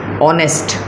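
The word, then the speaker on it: honest: पास एक बर्थडे दश ऑनेस्ट इससे ऑनेस्ट पढ़ते हैं तो यहां पर आपके पास ह साइलेंट हो जाएगा फर्स्ट लेटर आपके पास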